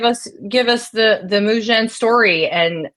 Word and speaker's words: Mujen: give us the the Mujan story and how it came to be. Am I saying it correctly? Can you say Yeah, you're you're saying it exactly correctly. Yeah. Men with a J.